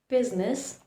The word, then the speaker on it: business: I likes to remain silent in words like business, business. See, I did not pronounce the letter I.